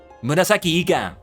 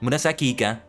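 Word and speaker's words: 紫イカ: Murasaki Ika, haha. I think that's how you say it. It may be slightly different. Murasaki Ika. The E kind of blends into the other word.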